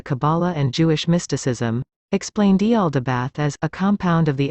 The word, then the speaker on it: Yaldabaoth: He is also given the bizarre name, Yaldabaoth, pronounced Yal-da-bi-ot.